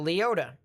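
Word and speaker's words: Leoti: it doesn't hit anyone you know pronounce leota yeah that probably makes sense even though there's an eye at the end but i don't live over in that area so leota ah but yeah that's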